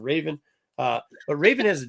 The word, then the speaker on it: Raven: talking about Trigon because I already mispronounced her name and called her Revan instead of Raven uh but Raven has